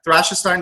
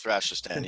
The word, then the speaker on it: Thrashestan: Is that Thrashestein? Did I say it correctly? The most glorious nation of Thrashestan. You have to use the complete.